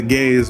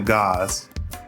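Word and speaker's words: Gauss: the Spore Lancer and I know it's pronounced the Gaze but I'm gonna keep calling it the guys and I like the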